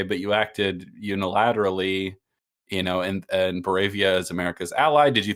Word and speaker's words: Boravia: God, I'm gonna get this name wrong. Is it Boravia? Barovia, right? Isn't that Boravia. Baravia? Yes. Okay. It is Boravia.